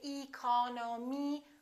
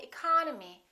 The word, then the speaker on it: economy: the first word economy the second syllable is stressed therefore this e and this o are reduced we don't say e col no me we say economy economy look at this